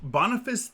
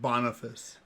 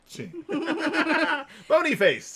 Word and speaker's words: Boniface: I love the name Boniface. Here's the thing, though. Boniface. Yeah. Not a great pope. Boniface. Bonyface. Just because it's Bony fun face. to mispronounce his I name like has nothing to do with pronouncing it.